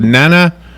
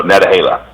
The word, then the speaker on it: Nantahala: How do you pronounce the national forest? Nantahala? Is that how you say it? No, Natahala. Natahala.